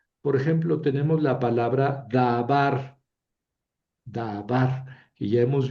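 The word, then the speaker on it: דָּבָר: Pero aquí tenemos una sílaba cerrada que tiene vocal larga y eso sucede cuando ahí recae el acento, ¿verdad?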